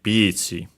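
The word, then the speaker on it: ピーチ: And yeah, accented on the P, of course, just like in English, Pichi.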